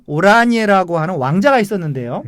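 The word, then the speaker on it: Oranje: 오란의 나쏘 왕가의 비렐름 반 오라니에라고 하는 왕자가 있었는데요.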